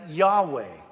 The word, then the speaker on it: Yahweh: We would pronounce it as Yahweh, YHWH.